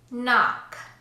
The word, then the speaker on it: knock: The letter K will always be silent in English when it comes before the letter N. Here are some examples. No, knock, knife, night, knowledge, knee.